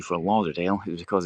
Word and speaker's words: Lauderdale: So it might have been Lauderdale, with a runic thorn, Lauther. But a more modern interpretation shows it as a D, and it's pronounced as if it was a D.